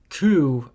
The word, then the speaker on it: coup: It was a coup. Yes. It was a little more aggressive. Coup. The P is silent. Because French are weird. And the coup at the end realized,